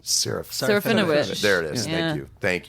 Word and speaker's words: Serafinowicz: screen for, and then Peter, and I can't pronounce his last name, Serafinowicz.